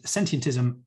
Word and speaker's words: Sentientism: you'll find us and sentientism you've got the pronunciation perfectly it is just the word sentient with ism on the end so we have a